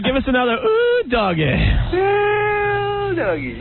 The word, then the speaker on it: well doggy: well doggy. You had to spell that right. You know, W-E-L-L-L-L. That's great. It's not wee doggy. It's well doggy.